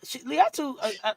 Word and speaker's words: Latu: But Latu really, Latu, I think if I'm saying her name right, King. You said it right.